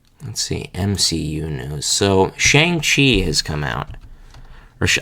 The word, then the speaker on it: Shang-Chi: So, Shang-Chi has come out. Or I think the correct pronunciation is Shang-Chi, if I remember correctly.